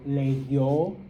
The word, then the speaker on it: leyó: That I becomes a Y, okay? And of course, you pronounce it as a Y. So leyó, leyeron, creyó, creyeron, oyó, oyeron. All right?